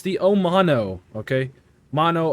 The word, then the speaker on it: Omono: the omano okay mono omano whatever you want to call it uh omano that's just what we're going to call it today or the Amano you know anyway uh it kind of rhymes with aano right uh we did review